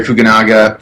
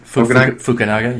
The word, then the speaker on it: Fukunaga: review it it moved me I think Carrie fuganaga for to pronounce it right Carrie fugenie fukunaga yeah fukunaga um it is a director's masterpiece